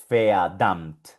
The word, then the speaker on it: verdammt: Se pronuncia verdammt, verdammt.